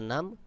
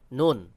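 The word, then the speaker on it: نون: একটা পেঁচানো আছে এটার নাম কাফ কফ এবং কাফ তারপর লাম মিম নুন নুনের উপর এক নুক্তা কফ কাফ লাম মিম নুন কেউ কেউ বলে নু এটা সহি উচ্চারণ নয় সহি উচ্চারণ হলো নুন কফ কাফ লাম মিম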